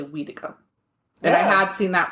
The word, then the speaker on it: Wendigo: Wendigo, Yes. which I did ask somebody recently, and that person from their particular Cree group, it's actually Weedigo.